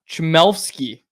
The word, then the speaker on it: Chmelevski: Chmelevski is how it's pronounced.